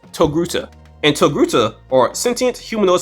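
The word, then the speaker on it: Togruta: And I think Knight called her a Toa before, but that's because he can't pronounce Hey, I tried. Hey, you failed. You're a failure. Her species name is actually pronounced Toguta.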